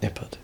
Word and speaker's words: Nippard: Because if you're short, like it's very, like if you look at, for example, Jeff Nippard, he's spelled like Jeff Nippard. It's phonetic.